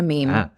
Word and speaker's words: meme: meme what is a meme a meme that's m m we pronounce it meme it's a joke it's